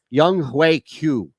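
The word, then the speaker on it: Younghoe Koo: the way it's young i think it is young hue q that's uh that's how we pronounce it oh yeah yeah because i heard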